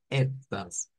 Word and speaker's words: etwas: Es nada más como decir etwas, pero con esa E abierta, etwas.